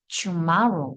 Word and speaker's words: tomorrow: 그래서이 T사운드 발음할 때 잘 보시면 투마로가 아니라 tomorrow 이렇게 되거든.